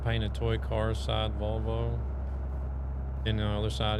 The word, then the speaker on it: Volvo: I say Volvo the American way. Straight out Volvo. I think the Swedish pronounce the O's a little bit stronger, like Volvo.